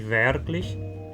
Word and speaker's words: wirklich: Então, por exemplo, em wirklich, eu pronuncio o R porque o que vem depois é uma consoante velar.